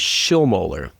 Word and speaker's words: Schilmoeller: The pronunciation, my last name is Schiller.